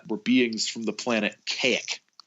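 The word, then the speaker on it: Kazik: men he met were beings from the planet k ik spelled kaz i k and they that sounds almost unpronounceable I know it's it's so weird because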